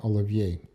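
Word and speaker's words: Оливье: the English-speaking world anyhow, let's just leave it at the Russian pronunciation, olivier.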